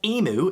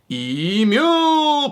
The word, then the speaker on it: emu: Now, why would you pronounce this animal as emu if it's pronounced correctly in Australia as emu?